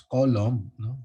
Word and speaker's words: Coulomb: not as coulomb so others would pronounce it as column but there are physicists who will make sound of it as coulomb you know so what